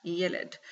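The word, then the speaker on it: ylide: Okay, yes, pronounce that, yelid.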